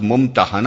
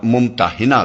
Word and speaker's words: الممتحنہ: الممتحنہ رکھا گیا ہے۔ اس کا تلفظ ممتحنہ بھی کیا جاتا ہے اور ممتحنہ بھی۔ پہلے تلفظ کے